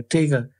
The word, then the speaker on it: taiga: Is it pronounced taiga or tiger? Taiga in that particular part of Siberia.